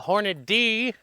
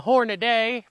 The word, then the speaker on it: Hornady: We got the Hornet D, because some people were picking on the Hornaday pronunciation.